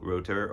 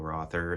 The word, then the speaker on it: Rother: Founding member of Kraftwerk, Neu, Harmonia, Michael Rother, or Michael Rother, if you're pronouncing it in English.